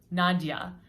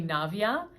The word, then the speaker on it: Navia: know as much as i love the name nadia my name is actually navia it's a little bit different um it happens quite often that people mispronounce my name because nadia is quite quite a common name and like i just said many different cultures but it's actually navia so that's one way